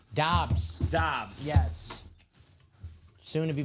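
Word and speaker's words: Doubs: I know it's Dobs, but Dubes. How is it pronounced? Dobs.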